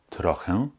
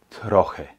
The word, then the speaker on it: trochę: kennst, dann weißt du, E mit Häkchen am Ende des Wortes bietet dir zwei Aussprachemöglichkeiten. Deshalb kann ich sagen, entweder trochę oder troche. Trochę, troche. Also T gefolgt von einem schönen rollenden R, tr, danach ein schönes klares O, tro, ch, troch. Und dann dieses E mit Häkchen.